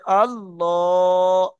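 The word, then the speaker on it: الله: একটু ভালো করে পড়েন আল্লাহু আমার মই লটা কেমন দেখেছেন মুখ মানে মুখটা গোল করে আল্লাহ আল্লাহুস সামাদ আল্লাহ মাশাল্লাহ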